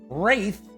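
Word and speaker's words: Wrathe: A successful hero will need a well-stocked inventory to draw upon, for the world of Wraith, I believe that's how it's pronounced, it's R-A-T-H-E, has much to be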